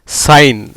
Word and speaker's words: sign: சைன் அப்படின்னு சொல்லிடுவீங்க. எப்படி உச்சரிப்பு வருதுன்னு பாருங்கள்.